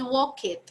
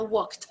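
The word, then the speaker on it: walked: con el de watch ojo la pronunciación no es worked nunca suena la e en este caso suena woks más adelante vamos a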